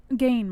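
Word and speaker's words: Gane: You got Junior Dos Santos versus, was it Gain or Gagne? How do you say this guy's name? Gain, Moss. Gain, okay.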